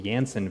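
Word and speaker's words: Janssen: jnj or the the the jansen or the yanson vaccine the german pronunciation i guess it's a different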